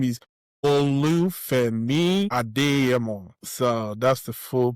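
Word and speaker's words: Olu Adeyemo: So, the full breakdown of my name is Olu Ado. So that's the full pronunciation of my name, but I go by Olu for easy pronunciation for people.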